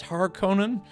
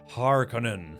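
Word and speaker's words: Harkonnen: I mean I I kind of like it maybe a little better pronounced Hark Conan. Harkon like hard Conan.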